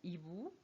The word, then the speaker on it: hibou: Le H dans hibou et H dans rhume.